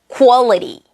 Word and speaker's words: quality: 자, QU로 시작되는 q 발음을 어떻게 하실지 몰랐었죠? 다 퀘스천, 퀘스트 뭐 이런 식으로 쾌 이렇게 발음을 하셨는데 사실 이거는 쿠아 발음으로 해주셔야 돼요. 자, 그 발음으로 한번 해볼게요. Quality, quality.